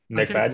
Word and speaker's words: MacFadyen: Yeah, MacFadyen.